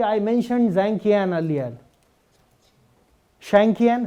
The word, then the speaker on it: Zhang Qian: Shangqian, how do you pronounce it? Changqian, okay.